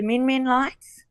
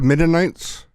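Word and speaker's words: Min Min lights: Oh, yeah, like the Min lights. The Mennonites?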